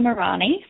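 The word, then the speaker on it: Muranyi: But I will also just mention that I have my own website, which is Morani. So that's. Morani is spelled M-U-R-A-N-Y-I.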